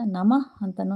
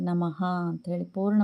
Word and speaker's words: ನಮಃ: ನಮಃ ಅಂತ ಹೇಳ್ತೇವೆ ಇಲ್ಲಿ ಇಲ್ಲಿ ನಮಃ ಅಂತ ಹೇಳಿದಾಗ ನಮಃ ಅಂತಾನೂ ಹೇಳ್ತಾರೆ ಸಂಸ್ಕೃತದಲ್ಲಿ ಅಥವಾ ಹಿಂದಿನಲ್ಲಿ ನಾವು ಕನ್ನಡದ ಮಟ್ಟಿಗೆ ಹೇಳೋದಾದ್ರೆ ನಮಃ ಅಂತ ಹೇಳಿ ಪೂರ್ಣ ಪ್ರಮಾಣದಲ್ಲಿ ಉಚ್ಚಾರಣೆ ಮಾಡ್ತೇವೆ ಈ ನಮಃ ಅನ್ನೋ ಪದ